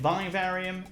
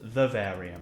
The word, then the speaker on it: Vivarium: when discussing or mentioning this film I said vivarium and the film is pronounced Verve area though anyway let's talk about the film's so